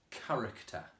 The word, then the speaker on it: character: go through together is character now this one might sound a bit tricky because if you listen it's got two of the sounds in Kerik it's a character so that's got two in so you need to